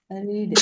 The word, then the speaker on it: read: okay நீங்க எப்படி நம்ம இப்படி கொண்டு வருவோம் படிக்கிறது ரீடு ரீட் ரீடு ரைட் படிக்கிறது இப்ப பாருங்க படிச்சது படிச்சது